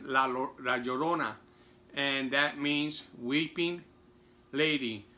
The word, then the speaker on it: La Llorona: I was mispronouncing it, or I was reading it in English rather. I was saying that La Llorona, but it's not, it's La Llorona.